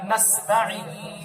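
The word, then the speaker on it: نستعين: ইয়াকা নাবুদু ওয়া ইয়াকা নাস্তাইন আপনার আলাদা লাগবে এবং আইনটাও সুন্দর ভাবে উচ্চারণ করবেন তারপর আপনি কেমন বলবেন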